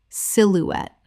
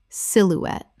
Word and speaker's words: silhouette: Silhouette. Correct pronunciation. Silhouette. Three syllables with the stress on the final syllable. The e at the end is pronounced.